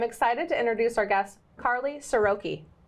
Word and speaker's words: Karly Siroky: networks where I'm excited to introduce Our Guest Carly soroki say it right yep perfect with a name